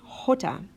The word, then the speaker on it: jota: doesn't make a sound Jota does make a sound and the sound it makes is a nice ha for example in English